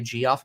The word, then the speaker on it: Geoff: It's probably Jeff, but some people say Geoff because it's spelled Geoff. I'm going to go with Jeff.